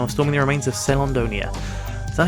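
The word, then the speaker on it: Caelondia: Gas fellas used to tend the mines, but now are storming the remains of Celandonia. Is that how you pronounce it? Celandia?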